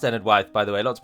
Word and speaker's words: Enedwaith: of ended wife and know that it is pronounced ended wife by the way lots of people say ended weaith and that is unfortunately incorrect and I used